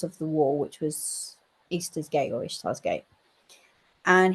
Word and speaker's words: Ishtar: And then they've also got some pieces of, I believe it's pronounced Easter, but it's spelled Ishtar, Ishtar's Gate.